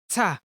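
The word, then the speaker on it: 짜: This is read as ta. To pronounce it correctly, let a ts sound sink in your mind. Just eliminate the air as possible as you speak.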